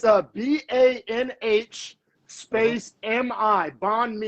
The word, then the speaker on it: banh mi: Oh yeah, so it's spelled, it's a BANH space MI, banh mi.